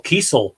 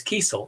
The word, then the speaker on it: Kesel: like i didn't know it was that it was carl keasel until i had him on the show really because you would around here we used to have kessel grocery stores that was spelled the same way yeah yeah it's it's it's kesel it's definitely good to know george peter gatsas is